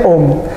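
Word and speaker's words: ॐ: Yang atas itu bacanya Om, dari bahasa Hindu, Om.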